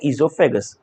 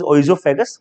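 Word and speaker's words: oesophagus: Tube को बोलते हैं ईजोफेगस। ओ is silent, sometime people says ओइजोफेगस, तो आप ओइजोफेगस भी बोल सकते हैं।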